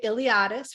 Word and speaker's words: Iliadis: Iliadis, for anyone who's wondering how to pronounce it, kind of like the Iliad, but with an is.